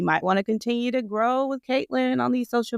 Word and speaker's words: Gro: So my Instagram is Grow with Kaitlyn, but it's spelled GRO and then with Kaitlyn with a K.